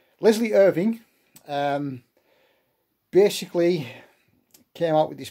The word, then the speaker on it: Irvin: Irvin, American Leslie Irvin, pronounced Irving. There should be a G at the end of his surname, but a clerical error meant that forever it's known as Irvin, but it should be Irving.